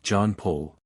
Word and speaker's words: Jean-Paul: My name should be pronounced as John Paul.